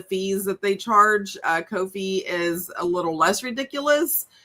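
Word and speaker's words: Ko-fi: It is pronounced Kofi.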